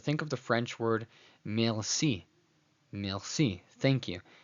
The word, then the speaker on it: merci: So the French R brings the pronunciation from the back of the throat to the front. In English pronunciation, it'd be merci, merci, merci to say thank you in French. In Spanish, it sounds merci, merci, hear that R.